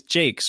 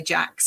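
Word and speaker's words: Jacques: to do that and it's Jake's right I heard you say Richard Jake's yeah it means I've been pronouncing it wrong this whole time I'm sure I'm sure he doesn't mind it I think a lot of people say Jax actually right cool well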